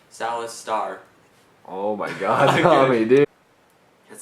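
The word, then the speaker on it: Saloth Sar: on in Cambodia a man by the name Salis star oh my God dud as this was going on as this was occurring in Cambodia I Man by the name Salasar I said it right as this was occurring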